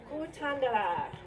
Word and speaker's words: Kutandara: Can you pronounce that for me? Kutandara.